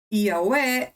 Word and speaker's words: Yahweh: I adopted to call or to mention his name like Yahweh, because in my opinion, Yahweh is the pronunciation which comes close or is closest to the original.